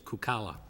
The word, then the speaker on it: Kukala: For the record, councilors, I asked her when I was on the telephone, the correct pronunciation is Kukala.